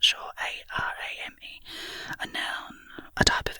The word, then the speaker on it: arame: Yes, arame, I'd say arame. The Japanese word is pronounced arame with the stress on the second syllable, like edamame, I guess.